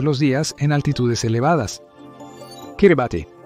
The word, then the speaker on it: Kiribati: Kiribati. Y sí, así es como se pronuncia.